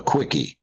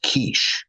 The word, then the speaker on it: quiche: over and he said, I would love a quickie. And I thought she was going to slap him. And when she stormed off, I turned to Ken and I said, Ken, it's pronounced quiche.